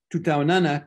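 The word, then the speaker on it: tutaonana: in ki swahili is tu taunana kesho you can tell it's one word because you stress the next to the last syllable to taunana kesho and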